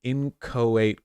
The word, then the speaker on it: inchoate: Federal solicitation is an inchoate crime. Could somebody... How do you pronounce that?